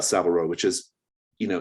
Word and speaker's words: Savile Row: scene about about um is it savile rose is that how it's pronounced yeah about savile row which is you know